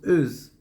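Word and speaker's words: עוז: Oz, dans la Shona Kodesh, on prononce Euz, c'est-à-dire Oz, c'est-à-dire la puissance.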